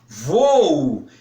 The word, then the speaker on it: voo: Ou, por exemplo, no voo, voo, é um exemplo clássico de hiato, porque os dois os, ou dois os, precisam ser pronunciados.